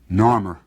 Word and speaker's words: Narmer: and a chisel now the fish was pronounced nor and the chisel is pronounced mer Narmer this is the man